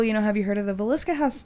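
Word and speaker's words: Villisca: And she's like, well, have you heard of the Velisca house? That's how you say it, right? The Velisca house? Mm-hmm. Is that how yeah, that's correct.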